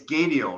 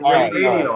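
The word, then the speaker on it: Andy Gadiel: Think tire. Yes. Just think tire when you think Andy.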